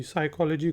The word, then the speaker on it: psychology: है, जिस तरह PSYCHOLOGY, साइकोलॉजी को बहुत से लोग गलत प्रोनाउंस करते हैं, लिखते भी गलत हैं। तो ये याद रखने की बात है कि इसमें P साइलेंट है।